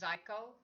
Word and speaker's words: Zico: brands: Naked Juice, CW, ONEZICO, which is pronounced Zyco, Cocozona, Vita Coco, which is made from concentrate and pasteurized with heat.